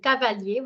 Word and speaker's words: cavalier: Okay, so this is ka, this is va, and this is lier, cavalier, which is a horseman.